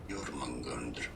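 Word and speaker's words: Jörmungandr: In Norse languages, it is said as Jormungandr.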